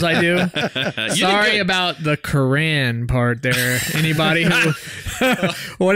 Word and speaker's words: Quran: Sorry about the Quran part there. Anybody who, what did I call it? The Quarren? The Quarren. Look, it does, phonetically spelled, it does look like Quarren.